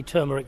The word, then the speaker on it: turmeric: There's a bit of kind of, which way to pronounce it between Rav and Dr. Lynn as well. Yes, indeed. I say turmeric, Rob.